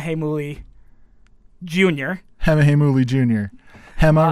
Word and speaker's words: Hema: Morgan Freeman himself, is Hema Heimuli Jr. Hema Heimuli Jr. Hema rhymes with dilemma. Hema rhymes with dilemma.